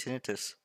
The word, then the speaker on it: tinnitus: That's how it's actually pronounced, tinnitus.